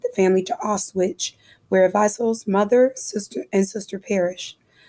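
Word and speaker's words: Wiesel: W is pronounced as V in German, so it's Weisel, not Weisel.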